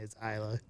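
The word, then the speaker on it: Islay: episodes we did screw up on how to pronounce the island's name so we now got it down it's isla isla isla island of isla all right so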